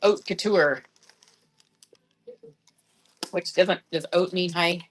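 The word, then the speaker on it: haute: Some people might say hot hippie, but it's not. It's pronounced oat. Like oat couture.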